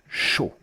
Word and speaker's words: chaud: Chaud, the D. The D is silent when it's the very last letter of a French word.